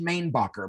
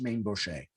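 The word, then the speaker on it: Mainbocher: the designer maine boucher he's also sometimes pronounced main bucker but but he's normally pronounced maine buche uh this wedding gown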